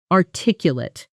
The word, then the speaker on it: articulate: Say it with me, and notice the stress falls on the second syllable.